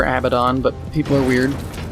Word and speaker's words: Abaddon: they weren't working with like Abaddon and or a bad and depending on how you pronounce it I've heard both ways I prefer Abaddon but people are weird